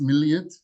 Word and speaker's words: millet: Not millet in the sense of like a grain. It was actually pronounced milliyet in Turkish, but in English it comes off as millet system.